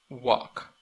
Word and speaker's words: walk: Walk, walk, walk. No pronuncia la L aquí.